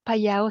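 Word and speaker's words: Phayao: is it okay yeah the initial consonant yes okay like Pattaya right yes yes so then it's payao City yes yes right thank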